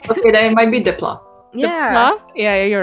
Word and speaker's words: Desplat: So I think that score was by Alexandre Desplat.